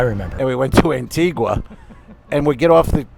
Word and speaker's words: Antigua: to Barbados no uh Antigua no Antigua Antigua Antigua um but in in Antigua they pronounce it Antiga watch that the locals